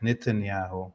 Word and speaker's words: Netanyahu: and by the way we would call him in Arabic Netanyahu and nitan means rotten so the roton yahu Ron yaho it actually rhymes with his name in English even um went to Washington